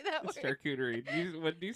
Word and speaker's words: charcuterie: Pick some up for your next charcuterie plate. Charcuterie. I don't know how to say that word. Charcuterie. What did you say? Charcuterie. Did you say shark coochie?